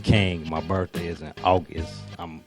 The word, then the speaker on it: KY.N.G: Because you spell it different, Ky.N.G. That's my initials. Okay. My first name is, Kyndol. So Ky.N.G. That's King, my birthday is in August.